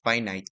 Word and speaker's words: finite: Now take note sa pronunciation ng dalawang words na to. Ito lang ang word that is pronounced as finite then ag ito infinite. So you know English rules ng English.